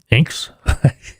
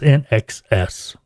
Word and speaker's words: INXS: Oh, we all talked to everybody trying to figure out how to pronounce that one. Inks? All kinds of, finally, record company told us NXS.